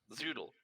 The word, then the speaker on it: Zoodle: Zoodle. Zoodle, like a noodle.